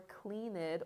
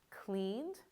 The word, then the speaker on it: cleaned: And something really important is you're not going to add an extra syllable to the word. So instead of what you might think it looks like called or cleaned or offered, but these